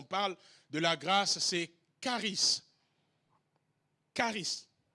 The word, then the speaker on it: charis: Le premier mot important qu'il faut retenir lorsqu'on parle de la grâce, c'est charis. Charis. Je n'ai pas dit Clarisse. J'ai dit charis. Charis, ça s'écrit C-H-A-R-I-S. Charis. Charis.